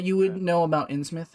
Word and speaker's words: Innsmouth: This person definitely doesn't seem to like Ainsmouth very much. It's also No, pronounced that's Innsmouth, I believe.